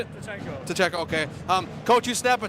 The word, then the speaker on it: Tcheko: Tcheko, okay.